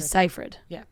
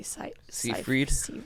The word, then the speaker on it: Seyfried: Amanda Seyfried. Yeah. I always want to say Seyfried. Seyfried. That's not it.